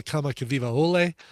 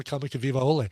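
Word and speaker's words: Kamakawiwoʻole: very talented, incredible performer from Hawaii named Israel Kamakawiwa-Ole.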